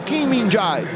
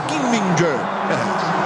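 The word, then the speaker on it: Kim Min-jae: Aí o Stevan roubou a bola do Kim Minai ou na pronúncia certa King Minger é mandou pra rede.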